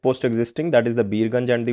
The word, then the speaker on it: Birgunj: That is the Birganj, that is the Birat Nagar. That is the correct pronunciation. Biratnagar and the Birganj.